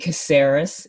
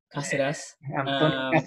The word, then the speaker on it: Cáceres: Sí todos lo llaman "Brosk" y luego tienes a Anthony "Caseres" es como le dicen acá. Cáceres.